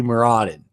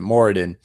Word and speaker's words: Moradin: He followed the deity Muradin, however you want to pronounce it, Moradin. I say Muradin.